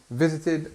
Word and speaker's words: visited: Visited starts with vi, visited, and this id is this third option then of the pronunciation of ed. You can have t, d, and id, and visited is the third one.